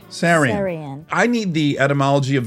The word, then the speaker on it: Seirian: Am I saying it correctly when I say Seirian? Seirian. Seirian.